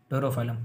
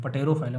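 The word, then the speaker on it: Pterophyllum: और जो टेरोफाइलम होता है इसको पी साइलेंट होता है, इसलिए हम इसको टेरोफाइलम पढ़ते हैं, टेरोफाइलम, पटेरोफाइलम नहीं टेरोफाइलम, ठीक है, जिसको हम बोलते हैं एंजल फिश, ठीक है, एंजल फिश।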